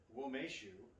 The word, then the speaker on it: Umeshu: of what it is so it says womeshu pronounced womeshu is the traditional apertif slash dessert liqueur made